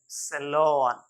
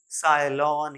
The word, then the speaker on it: salon: then SALON, सैलॉन, न कि साइलॉन या कुछ और, सैलॉन, the place where we